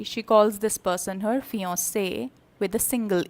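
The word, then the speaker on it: fiancée: to somebody he says fiancee with a double e there's a difference in writing the pronunciation is the same as fiance then who is a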